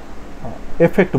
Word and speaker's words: affect: এ এ লিখলে প্লাস দিয়ে ফেক্ট, FEKT ফেক্ট, এফেক্ট।